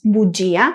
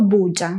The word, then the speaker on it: bugia: La sílaba tónica cae en la i del grupo ja, por eso pronunciamos bugia y no buja.